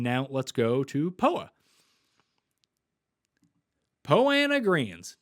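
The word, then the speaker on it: Poa annua: poa po anna greens two for two in pronouncing it properly it just looks so weird when you look at it look at it spelled out that there's no way that it could be pronounced like that when you merge the words together but hey here we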